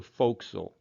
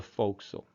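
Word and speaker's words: forecastle: on this destroyer is referred to as the foxel if you spell it out properly notice it's spelled for castle but it's pronounced the foxil moving around the ship those other different places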